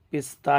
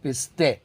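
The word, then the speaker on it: پسته: تفنگ بندوق، پستے اردو میں بھی پستہ ہی کہتے ہیں، اردو میں خالی تلفظ فرق ہے، اردو والے کہتے ہیں پستہ، فارسی میں کہتے ہیں پستے.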